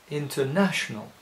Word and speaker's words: International: interal very evenly whereas the English will say International putting the stress on the third syllable the second kind of